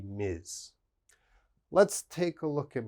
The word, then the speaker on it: Ms: and this one mr any man is mister and every woman should be miz let's take a look